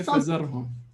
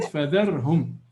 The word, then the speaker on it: فذرهم: You didn't say fazarhum. You said fadharhum.